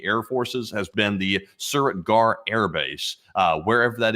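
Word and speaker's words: Suratgarh: So that is the newest air base that has been struck and attacked by Pakistani air forces has been the Suriritgar air base.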